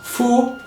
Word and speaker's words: 父: women are associated with skirts this character is pronounced Fu IM Mander and Fu in Japanese and also